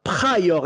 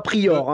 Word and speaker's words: Pryor: Il faut bien prononcer les lettres à la française. Richard Pryor, voilà. Et encore, j'ai fait l'effort de dire Pryor et non pas Prior, hein, quand même.